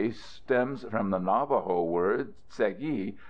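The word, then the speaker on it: Tséyi': name - a stems from the Navajo word segi pronounced say she or say she and meaning Rock Canyon the name by which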